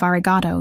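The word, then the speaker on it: ありがとう: He also said to tell you that your pronunciation of argato needs work. The O at the end should be longer, more sustained.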